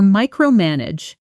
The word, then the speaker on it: micromanage: Now for micromanage, the stress falls on the first syllable of the final part.